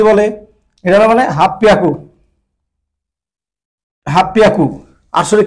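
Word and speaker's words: はっぴゃく: 800 দেখেন 8 × 100, তাহলে হাঁচি হিয়াকু হওয়ার কথা ছিল, কিন্তু এটা ব্যতিক্রম রাখছে, ওরা বলতেছে হাফ পিয়াকু, হাফ পিয়াকু, মানে হচ্ছে এই সে P double P পিয়াকু, half পিয়াকু, half পিয়াকু উচ্চারণ হয়েছে, ঠিক আছে।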